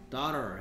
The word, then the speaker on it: daughter: Daughter.